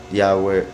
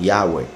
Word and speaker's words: Yahweh: las conjugaciones y demás, el acento iría al final, igual que por ejemplo en Yahushua.